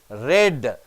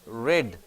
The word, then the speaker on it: read: Jane asked Rosie, which newspaper she read. Spelling is same. She read. Pronunciation changes. Spelling is the same.